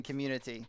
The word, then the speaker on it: community: There's a T in community. I know, right? It's not a D.